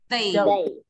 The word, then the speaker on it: they: Họ không đọc là dây đâu nhá, mà họ đọc là they.